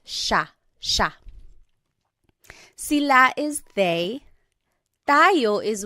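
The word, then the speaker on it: siya: and again just to point out the pronunciation it looks like it should be pronounced but it's usually pronounced Sha Sha Sila is theyo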